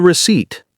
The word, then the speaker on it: receipt: And always keep the receipt. Silent PH.